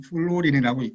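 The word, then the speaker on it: pHluorin: 그래서 일명 pH 롤린이라고 쓰고 읽기는 플로린이라고 읽습니다.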